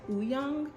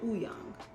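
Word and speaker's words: Wooyoung: the w he goes oo young ooh young it's almost like the w is silent you know what i'm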